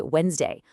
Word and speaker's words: Wednesday: Wednesday is Wednesday.